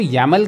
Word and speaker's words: YAML: सो file का जो extension होता है वो YAML या YML या मतलब प्रोनाउंस उसको YAML के तौर पे किया जाता है।